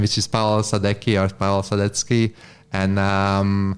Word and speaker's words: Sadecky: it's pretty much my name which is Paulo sadecki and um how do you spell that uh so first name is Paul last name it's sadaki s-a-d-e-c-k-y looking a very European name especially if